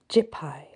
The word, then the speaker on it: Jippa: km zafari so and it's called jipai oh but it's spelled j-i-p-p a but it's the a with the apostrophe on top so that's what gives it that different uh ending so it would be